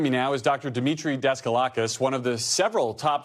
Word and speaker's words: Daskalakis: Demetre Daskalakis, one of the several top CDC officials who resigned in protest last month following Dr.